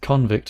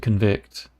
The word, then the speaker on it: convict: Then with convict and convict. So convict is a noun who a person who is in prison. To convict is to give a person a criminal uh charge.